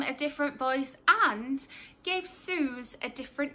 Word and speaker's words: Suze: different name so Susie's called Suze as you said II and has been called Suze since book 1 but in one of these audiobooks can't remember specifically which possibly Shopaholic and sister the narrator pronounces it as Suzy and it really bugged me because obviously I've read